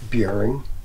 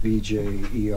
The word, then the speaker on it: Bjerring: Bjerring. The J is silent. Bjerring. And it's sort of Bjerring. I guess it's just a Scandinavian, and they pronounce it probably even different.